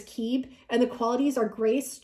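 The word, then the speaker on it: Kib: The pronunciation of this card is Keeb, and the qualities are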